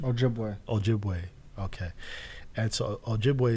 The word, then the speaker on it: Ojibwe: Ojibwe.